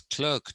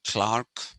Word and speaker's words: clerk: no place here okay but clerk or everybody says clerk nowadays ancient anti-diluvian people like me we say clark this is something that